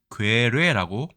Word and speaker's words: 괴뢰: 자, 그러면 앞에 있는 글자 괴, 뒤에 있는 글자 뢰, 앞에는 장음이네요.